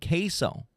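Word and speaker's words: CaseOh: This guy named Queso. Like the cheese, but it's spelled CASE-OH.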